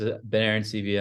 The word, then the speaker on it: Ben Arancibia: you ahead of time no it was a good pronunciation uh it's exactly how it's spelled um so my name is bener and CIA I'm a director of